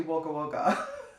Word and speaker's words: Wagga Wagga: video i believe um i was pronouncing the place that zara grew up in as wagga wagga and someone in australia actually commented on the video and let me know that it's actually wagga wagga so i've been it's